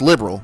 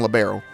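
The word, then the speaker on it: Liberl: Yes, it's pronounced liberal, but I keep saying libero, but I like labbero because liberal just doesn't sound right.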